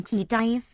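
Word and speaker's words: Khedive: satisfied with gadiff velk written key dive and pronounced even Ki Dave a Persian title which simply means Prince or Raja as gay defy Hind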